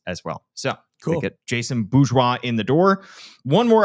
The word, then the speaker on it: Jason Bourgeois: Jason Bourgeois, I should say. And that is how you pronounce his name.